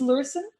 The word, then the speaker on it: Lurssen: us all and i'm not even sure i'm pronouncing your name right that's the problem with online friends uh it's lursen yeah yes and um and yeah i i